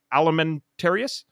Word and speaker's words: Alimentarius: I don't know how to pronounce that word. What's the alimentarius?